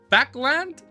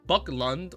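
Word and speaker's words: Backlund: twice okay hold up people told me backland backland backland and I know Buckland or Buckland is wrong badun badun factorial it's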